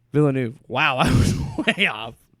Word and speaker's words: Villeneuve: Dennis Villanueva. It's I'm not trying to be funny. I'm legit. Like, Denis Villeneuve. Villeneuve.